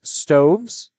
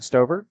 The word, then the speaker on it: Stoves: Parker Long working against Stoves. I managed to get her name wrong twice by saying Glover and then Stover. Stoves.